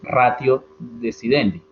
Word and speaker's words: ratio decidendi: de reglas paréntesis acá algunos profesores algunas personas le producen lo pronuncian o lo leen y está bien muy castellano digamos ratio decidendi está bien me van a escuchar